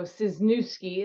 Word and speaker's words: Ciesniewski: always tell the announcer, you say his new ski with a C in front of it. So Ciesniewski is how she would pronounce it.